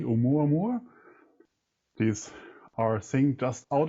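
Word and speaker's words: ʻOumuamua: Our latest episode, number 22, featured Professor Avi Loeb talking about, now I try to pronounce it correctly, Oumuamua.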